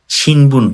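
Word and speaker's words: 新聞: শিনবুন বা পত্রিকা, পত্রিকার যে কাঞ্জি আছে শিনবুন, এটা কিন্তু অনেক ইম্পর্টেন্ট।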